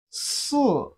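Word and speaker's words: 四: Si, repeat after me. Si, it has the fourth tone of Chinese language. The fourth tone is the falling tone.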